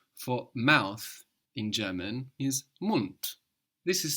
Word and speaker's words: Mund: But the D being on the end of the syllable is being pronounced hard. Mund.